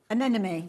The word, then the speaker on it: Anemone: So this has got, I can't pronounce this. There we go. Oh, which one is it? Anemone.